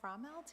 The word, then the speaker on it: Frommelt: Thank We will move into the fiscal year 24 audit review, and we have Frommelt here from Bonsack and Frommelt LLP.